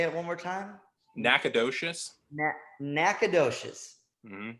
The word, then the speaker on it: Nacogdoches: live right town name right there can you pronounce that say it one more time Nacogdoches no Nacogdoches mmm Nacogdoches Nacogdoches yeah that's yeah so so awesome yeah